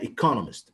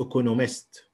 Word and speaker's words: economist: اوكي هنا economist مش economist يبقى برضو هنا نعلمته الستريس ازاي ينطق. خلي بالك ان احنا عندنا حاجه اسمها ايه misplacement of stress ان بعض الناس بتحط الستريس غلط. فالكلمه طبعا هنا مكونه من economist اربع مقاطع.